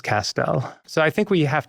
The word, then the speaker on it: Castel: And so I tell people my last name is Pastel, Castell, you know, Castell rhymes with pastel and my grandfather used pastels, let's say.